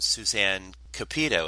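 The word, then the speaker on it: Suzanne Cupito: a child actor and that you were born Suzanne capito is that pronounced correctly that's right uhuh that's right and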